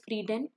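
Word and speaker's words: Friedan: सेक्स इज पेटी फ्रीडमैन this is नॉट फ्रीडमैन इट इज फ्रिडन ठीक है गलत लिख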